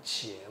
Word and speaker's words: 伽: 国语呢，就是念成茄嘛，所以你要念洛阳茄兰记，你就念了，也没有任何问题。